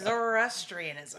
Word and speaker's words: Zoroastrianism: It's Zoroastrianism. Zoroastrianism. Or Zoroastrianism. Zorro. Okay, we're bad at pronouncing things Zoroastri- here on Hey Assbutt.